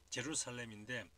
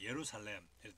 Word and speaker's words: 예루살렘: 이 J가 영어로 하면은 우리의 지읒 발음 제루살렘인데 이 헬라어로 하면 이게 Y 발음이 납니다. 그래서 예루살렘 이렇게 됩니다.